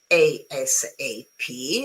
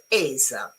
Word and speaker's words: ASAP: and can be pronounced in two ways: ASAP, saying each letter, or as a single word, ASAP.